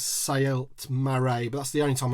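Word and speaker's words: Saelt-Marae: It's Saelt Marae, but that's the only time I'm going to say that.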